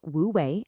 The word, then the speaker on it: Wu Wei: It's pronounced woouei and it literally translates to effortless action.